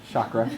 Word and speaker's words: chakra: so a good thing to not pronounce it in the California pronunciation but to choose to pronounce it with integrity chakra so everything I mean